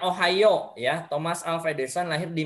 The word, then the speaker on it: Ohio: Ohio pada tanggal 11 Februari Oke Taki Taki bacanya ohioo Ya Thomas alfedison lahir di Milan ohioo ulangi